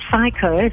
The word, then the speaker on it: FICO: that you guys do so psycho so i had to tell you that pronunciation um we're yes we're